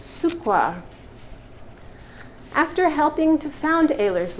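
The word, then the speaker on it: Cukor: In Hungarian, the Cooker name means sugar, and it is pronounced Sukwar.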